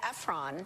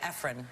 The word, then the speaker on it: Ephron: It's Delia Ephron. I've said Nora Ephron I know. And that's okay. to her face. You know, we all have. We all have. But it's Ephron. Anyway. Ephron. It's spelled Ephron, so you're not. Yeah. Don't beat yourself up.